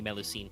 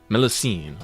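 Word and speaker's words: Mélusine: them no signer I double checked the preferred pronunciation is apparently melucene it is French milicine okay yeah it's not Greek so that we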